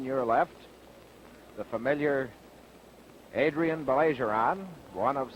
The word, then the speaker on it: Baillargeon: We know Adrien Baillargeon, or Baillargeon, as he tells me the correct pronunciation is.